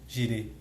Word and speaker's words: Jireh: Que do hebraico, né, tem o tetagrama e o jirê, né, se pronuncia jirê, né, que é Jeová Jireh, né, quer dizer Deus proverá.